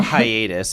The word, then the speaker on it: Hyatus: It's called Hiatus, and it's spelled Hyatus.